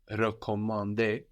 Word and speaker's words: recommander: But in to recommend, for example, recommander, the E at the beginning is slightly different. No, it's more like in je for I or le for it. Recommander, recommander.